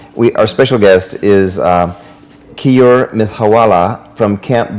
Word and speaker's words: Keyur: crazy the today we our special guest is key or myth hawala from camp b XCOM did I pronounce it right okay great welcome it's okay you're okay you're okay it's not spelled